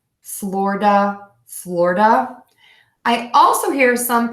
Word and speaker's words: Florida: for this state um you can say floor duh just like the floor that you walk on Florida Florida Florida I also hear some people say Florida Florida Florida so what